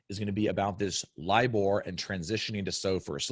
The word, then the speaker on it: LIBOR: defer to talk about what is LIBOR and that's how you say it LIBOR and then what is